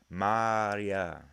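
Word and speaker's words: Marija: The J is fucking silent, everyone. That's how you pronounce her name. Maria.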